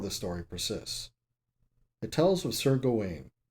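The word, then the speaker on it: Gawain: story persists hotels with Sergo Wayne perhaps more correctly pronounced Garwin in the film who engages with a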